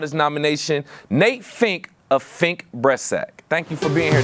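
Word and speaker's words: Fink Bressack: Is it Fink Breastsack? Did I say that right? I want to make sure I say that right. That's right. No, Okay, right.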